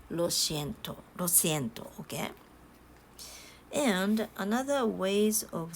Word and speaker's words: lo siento: uh be said like lo siento lo siento lo siento and this can be pronounced as si not she so you could pronounce